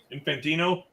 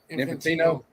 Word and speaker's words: Infantino: Uh, Infante or how do you say his name? Infantino. Infantino.